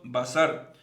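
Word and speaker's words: בשר: nombre de dios cannes en hebreo se active se pronuncia basar carne diego se escribe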